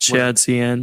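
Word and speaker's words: shadcn: And I do like the approach that, is it Shad CDN, or I always forget how to pronounce that. Shad CN.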